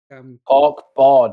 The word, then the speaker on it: Cork Bord: Corkborg or cork b cork board as in a board made of cork.